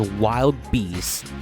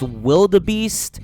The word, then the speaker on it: Wild Beast: You see, this is what is known in literature as Old English, where words have things like silent E's at the end of them, and I's are replaced with Y's. If this is pronounced wildebeest, then by your logic, this land should be pronounced medieval fairy.